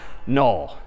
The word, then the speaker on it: null: this character is again sort of pronounced null or written n-u-l so that's all right